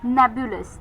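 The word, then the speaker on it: nebulous: एक एडजेक्टिव है नेब्यूलस।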